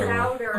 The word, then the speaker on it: Souders: There's no N in his name. So Souders.